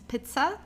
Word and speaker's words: Pizza: Make sure the pronunciation is Pizza. Okay, this is the German pronunciation because there's a double consonant, so you have to pronounce the vowel before that very briefly.